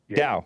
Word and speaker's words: Tao: Look, it's spelled Tao, but it's pronounced. Tao, right.